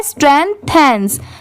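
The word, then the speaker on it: strengthens: अगर सिर्फ यह अलग होता टी एच इ एन इसे देन पढ़ते बट नहीं। यहां पर इसकी साउंड क्या आ रही है? थैन की।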